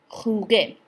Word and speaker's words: jugué: Jugar ends with a G, a soft G, so therefore in order to keep that same soft G in yo form, we're going to change the G to a GU. Yo jugué.